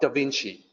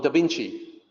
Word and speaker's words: Da Vinci: They did not know that the C was supposed to sound like CH.